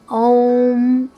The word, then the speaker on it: ओम: चरण किया जाता है इसे ए ओ एम ओम ऐसे बोलना चाहिए कैसे ओम ओम ओम ऐसी उच्चारण किया जाना चाहिए वैज्ञानिकों ने भी इसको